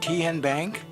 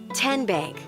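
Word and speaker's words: TN Bank: Kien Bank. Nope. Tin Bank. Uh-uh. So, what is it? Tenbank. 10 as in Tennessee. Right here where all our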